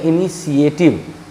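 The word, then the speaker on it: initiative: यहाँ भी देखिए आप, इस टी के बाद आई ए आया था, तालब शौ हुआ, इस टी के बाद आई ए नहीं आया है, इसलिए टॉ हो गया है।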